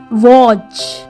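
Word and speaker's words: watch: अब ये है WA से वो और T इसमें साइलेंट है और CH, वॉच, ठीक है।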